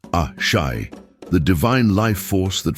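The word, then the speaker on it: Àṣẹ: The fourth lesson introduces us to Ace, pronounced A-Shai, the divine life force that flows through all existence.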